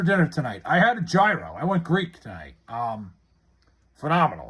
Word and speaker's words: gyro: What was in your gyro? It was just gyro meat, lettuce, onions, and yogurt sauce. The G is silent.